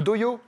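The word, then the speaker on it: dohyō: Le doyo pour le Doyo. sumo. Ah, parce que c'est écrit J aussi? Non, avec H-Y.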